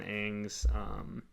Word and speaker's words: Aang: So like each season, it's kind of focusing on Aang's, like him mastering the different elements. So, dude, it's Aang. That's the way it's supposed to be pronounced.